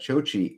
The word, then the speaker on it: Chochi: Okay, Chochi. Is that how you pronounce that? Chochi is the dialect of my dad's hometown. Chochi. Chochi. So you had it right.